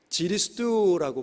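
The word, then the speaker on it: 基利斯督: 그런데 그들은 이 기리사독이라고 읽지 않고 중국인들은 지리스두라고 부르는 거죠.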